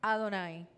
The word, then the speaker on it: Adonai: yahwe en castellano yavet el texto hebraico introduce las vocales de adonay y los estudios judíos lo pronuncian adonay todos los hebreos le dicen Adonai señor Jehová señor yah